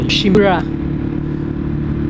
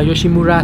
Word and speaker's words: Yoshimura: Cái này thì tiếng Nhật nó đọc là Yoshimura. Yoshimura. Bình thường anh em đọc là Yoshimura thì cũng đúng đấy. Nghe thì vẫn hiểu thôi, nhưng mà tiếng Nhật chữ U thì nó đọc là Ư.